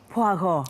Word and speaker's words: Poirot: Now, let's talk about Hercule Poirot. Yes, the pronunciation was superb.